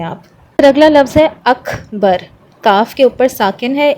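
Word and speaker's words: أكبر: سانس باہر آئے گی۔ اکبر، اک، ٹھیک ہے؟ اکبر کر کے نہیں پڑھنا، اک پر آپ کی آواز رکنی نہیں چاہیے، آپ کی سانس باہر آنی چاہیے، اکبر۔ اور آخر میں را بھی ہیوی پڑھا جائے گا، اکبر، اکبر۔ آپ اس کو اکبر اردو والی طریقے سے نہیں پڑھیں گے، اکبر نہیں پڑھیں گے،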